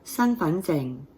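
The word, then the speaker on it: 身份證: Your identity card in Cantonese is your San Fan Zeng.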